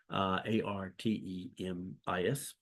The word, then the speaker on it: Artemis: goddess of the moon, which is, I think, Artemis, if I'm pronouncing that correctly. Artemis.